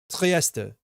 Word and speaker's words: Trieste: I noticed a lot of people don't pronounce the last E of Trieste, the final Trieste. The final T is like you pronounce terminal. Trieste.